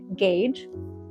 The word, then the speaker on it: gauge: anyone that commented and told me how to pronounce it thank you gauge so um yeah I'm going to be doing